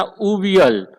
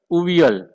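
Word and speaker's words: avial: उसको प्रोनाउंस करते ये एवियल लिखा हुआ है, बट आपको उसको प्रोनाउंस करना उवियल, उवियल, क्या प्रोनाउंस करना, उवियल।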